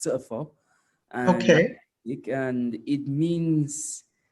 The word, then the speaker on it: Tchofor: dig so uh it's actually pronounced tougher okay you can it